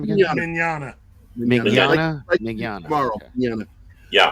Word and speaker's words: Mignogna: Mignogna.